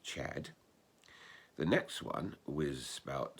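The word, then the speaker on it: Cedd: own country and it said that four brothers came let me read their names the first one is spelt c-e-d-d which you would want to pronounce said but it's actually more usually pronounced chad the next one was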